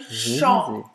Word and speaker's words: chant: aqui a gente tem chant, tá? Chant. A pronúncia termina tipo on. na nasalada. Não vai pronunciar o T no primeiro exemplo e não vai pronunciar o P no segundo exemplo.